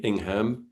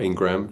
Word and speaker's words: Ingam: Just to say my name is Ingam, not Ingram, just in case.